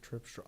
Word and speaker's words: Tripsdrill: Trip Sorry, Tripsdrill. Tripsdrill. How do they spell it? T R I P S D R I L. Exactly how it sounds. Tripsdrill. Amusement park Tripsdrill.